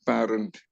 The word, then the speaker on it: parent: Now, parent. It is not parent. Yes, parent. Many people commit this mistake. Parent. As if A is paired with I to form this pronunciation of parent. Parent. Parent doesn't have an I. It is just P-A. So here A is like a pay.